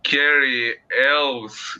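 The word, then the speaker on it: Cary Elwes: well Brooks and starts Carrie elves if that's what it's pronounced like yeah you said it right uh okay uh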